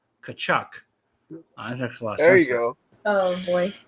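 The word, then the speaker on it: Tkachuk: at uh pron pronunciations there's no T it's just P there's a t right there oh I see is silent kachuck there you go oh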